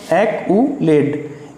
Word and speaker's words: accolade: एक्कोलेड, क्या दे रखा है? ACCOLADE, ACCOLADE, एक्कोलेड। इसकी प्रोनाउंसिएशन क्या होगी? एक्यूलेड, AKUHLAD, एक्यूलेड।